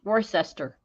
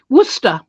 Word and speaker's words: Worcester: can't certainly announce it Worcester it's not Worcester it's Worcester do not ask me what I don't know but it just is well and he said